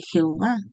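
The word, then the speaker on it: Yahweh: Entonces, bueno, Yah o Yahweé, algunos dicen Yahwe. Yo lo he escuchado también como Yah B. Es YWH, dice, "No hay certidumbre. acerca de cómo se pronunciaba realmente el nombre, pero la mayoría creen que es Yahweeh. Sería una mejor pronunciación que Jehová.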